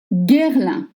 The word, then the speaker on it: Guerlain: Guerlain. G and U makes the sound G as in garage. And again, we have the semi-vowel un. Guerlain. Guerlain.